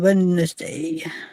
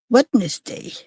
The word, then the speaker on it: Wednesday: His birthday is on Wednesday. Wednesday.